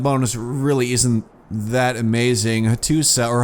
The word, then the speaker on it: Hattusa: Hattusa, or Hattusha, apparently I should say. Someone left a comment getting a little bit upset about that. Apparently it's pronounced Hattusha, not Hattusa, which I have been calling it.